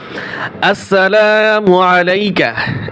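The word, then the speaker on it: السلام عليك: আসসালামু আলাইকা, এখন বানান করবা, হামজা সিন জবর আস, সিন জবর সা,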